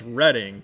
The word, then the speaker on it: Reading: do you say it reading pa right believe it or not it's reading i didn't know that i i learned that about a month ago as well everybody was all reading railroad it's reading there we go you